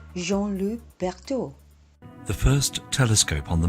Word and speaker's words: Jean-Louis Berthoud: Oh, and that word is reservoir, and you pronounce that gentleman's name, Jean-Louis Berthoud.